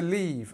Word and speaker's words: leave: they left the party early so pronunciation changed between past and simple leave is this e sound leave and then left is we have this uh this e sound here so e left so I leave home at 8:00 a.m.